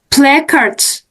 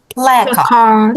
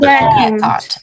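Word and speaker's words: placard: Playards. Yeah, but let's come back. Okay, about this one. How do we say like this one? Guys, listen. Play card. Play card stress on here.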